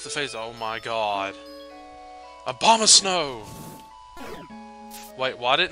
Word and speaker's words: Abomasnow: I think a bomb of snow. That is how you pronounce it, which is weird. But, I think Abomasnow activates it as soon as he shows up on a playing field.